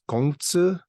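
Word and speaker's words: 孔子: Confucius, the way you would pronounce it in Chinese, I guess, is Gong Tzu, right? So, and even in the Korean language, you say Gongja, right?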